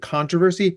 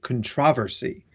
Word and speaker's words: controversy: which is instead of controversy, controversy. It's it's an objectively better pronunciation. Controversy. It's all about the emphasis, right?